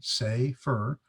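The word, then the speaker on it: סֵפֶר: Here's the Hebrew verb Sefer, and they give you a pronunciation, Sefer.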